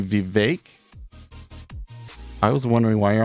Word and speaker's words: Vivek: in the vecchi wait you say vivec last part rhymes with cake the vague he's saying it should be Vivek I was wondering why